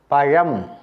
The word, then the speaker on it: பழம்: போட்டிருக்கின்றேன் பாருங்கள் தமிழ் வழி பழம் மொழி தமிழ் வழி பழம் மொழி ழ ழ என்று உச்சரிக்க வேண்டும் பலரும் லா லா என்று உச்சரிக்கின்றார்கள் அப்படி உச்சரிக்கக்கூடாது லா என்று தான் உச்சரிக்க